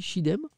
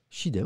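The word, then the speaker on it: Çiğdem: Ça se dit Chidem, me dit quelqu'un, c'est ça? D'accord. Chidem, ok, merci pour la prononciation.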